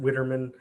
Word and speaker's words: Widerman: last name it's weidermann i say wider minutes i pronounce it witterman but uh for spelling